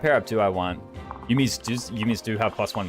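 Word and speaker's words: 弓: Is it yumi or is it yummy? Did I say yummy?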